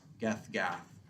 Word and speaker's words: Gath: And they don't pronounce the H. So it's They'll be call it Gat. Like Yeah. cat, except with a G.